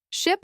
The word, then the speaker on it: ship: Ship has a short I sound, like in sit or bit, while sheep has a long I sound, like in see or sleep.